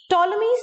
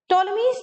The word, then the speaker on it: Ptolemy's: ac right now the ptolemy's theorem the p is silent here ptolemy's theorem says that in